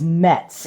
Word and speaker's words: Muetz: My maiden name is Muetz. It is spelled M-U-E-T-Z with an umlaut over the U.